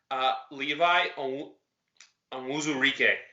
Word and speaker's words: Levi Onwuzurike: I have the correct pronunciation. Levi Onwuzurike.